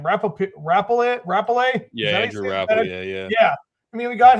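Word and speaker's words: Rappleyea: Yeah, Andrew Rapale, yeah.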